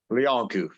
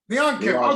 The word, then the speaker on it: Leancu: You've been listening to Luke for MMA Fancast with John, whose last name is French and a fun pronunciation, which I've forgotten. Leancu. Leancu.